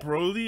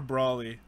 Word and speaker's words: Broly: time I loved it bro lee or Brawley I've pronounced it bro Lee but I've heard it pronounced the other way too okay doesn't really matter